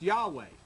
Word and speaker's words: Yahweh: And so this, then through tradition, this YHWH started to be pronounced Yahweh.